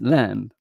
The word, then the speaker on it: lamb: English l a b you don't pronounce the b uh but it's lamb pronounced uh but I used to say lamb but uh you know um it's like like bomb.